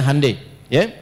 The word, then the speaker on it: Hyundai: Ya, Hyundai saya tahu bahasanya dibacanya Hai ya.